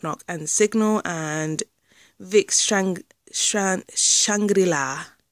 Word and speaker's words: Shangri-La: Sorry, Twice, Knock Knock and Signal and Vic Shangri-La. That's how I pronounce it. Shangri-La.